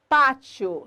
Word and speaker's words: pátio: No caso da palavra pátio, sílaba tônica de pátio, pá, penúltima, paroxítona acentuada por terminar em ditongo crescente IO.